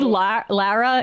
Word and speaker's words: Lara: It's actually Lara. You're getting influenced by Sam saying it incorrectly. It's not Laura. It's Lara. There's no you.